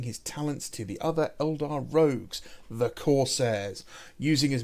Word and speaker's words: Eldar: showcase The Ballad of the sky serpents it's pronounced Eldar buddy you should know it you created them